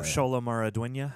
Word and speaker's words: Xolo Maridueña: But how do you pronounce his name? Oh, Xolo Maridueña.